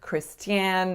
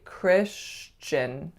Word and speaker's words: Christian: This one, I often don't hear the ch coming in at the T-I-A-N I often hear something like Christian or something similar. So this one, make sure it's really Christian, Christian. So a sh and then a ch back to back.